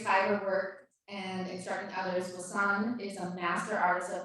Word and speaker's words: Wasson: I'm known as Wasson, is how you pronounce that.